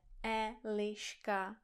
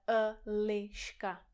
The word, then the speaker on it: Eliška: neříkáte vyjet, ale vjet, že neříkáte Eliška, ale Eliška.